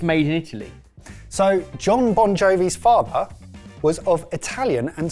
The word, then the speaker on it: Bongiovi: So John Bon Jovi's father was of Italian and Slovak ancestry. The name Bon Jovi, which is actually spelt correctly on the label, is only the band that's spelt almost phonetically.